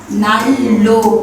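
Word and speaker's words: 난로: मा परिवर्तन हुने भयो त्यही भएर हामी यसलाई उच्चारण गर्दा खेरि नाल्लो भनेर यसरी उच्चारण गर्ने पर्छ बुझिन्छ अ नाल्लो भनेको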